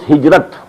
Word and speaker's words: hijrah: I said, at some time in my discussion that I'll explain the word hijrah also. Hijrah, which we in Urdu pronounce hijrat.